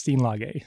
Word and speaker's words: Steenlage: You're saying our last name wrong." So it turns out there's a small pocket that had the same last name in the Netherlands. And we looked them up, and they say it's Steenlage.